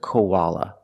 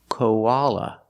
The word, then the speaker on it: koala: Pronunciation, koala. Koala. The O is pronounced with the long O, like no and go, ko.